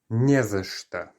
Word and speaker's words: не за что: And therefore, because we're stressing the first part of it, the не, the end of the word is unstressed, and so the or gets reduced. Не за что.